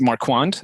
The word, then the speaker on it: Marquand: or mark hand yeah um sorry if i you know mispronounced it's marquand okay um it's production companies